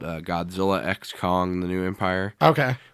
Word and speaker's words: Godzilla x Kong: It was called Godzilla X Kong, The New Empire. Okay. Which apparently the X is silent in, by the way, but I'm going to keep saying X anyway.